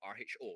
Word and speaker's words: rho: it looks like a p but it's actually rho rho right it's pronounced uh it's spelled as rho when we're